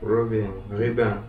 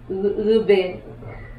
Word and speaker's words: Ruben: Ruben. Ruben. So he actually pronounces his name in the French accent, and Ruben is from